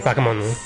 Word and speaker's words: bakemono: I don't know how weird it is in the scheme of things, but he's not pronouncing the O. He's saying Bakemono, Bakemono. He's kind of like eliding the O, so I can kind of understand why they got confused.